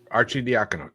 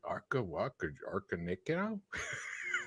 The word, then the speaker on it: Arcidiacono: Arcidiacono.